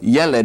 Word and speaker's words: yeled: The accent is on the first syllable. We have a segol under the second letter. So yeled is how that's pronounced.